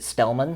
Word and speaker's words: Stellmon: I do want to make sure I'm pronouncing that correct. Is it Stelman? It's Stelman.